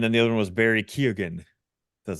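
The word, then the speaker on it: Barry Keoghan: know guy and then the other one was Barry Ken that's how you say his name the guy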